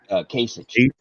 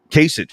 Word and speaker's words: Kasich: Kasich. Kasich.